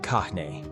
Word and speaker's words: Kāne: Kahn, the creator, Kahn, pronounced Kahn, is the eldest and most powerful of the four major Hawaiian gods.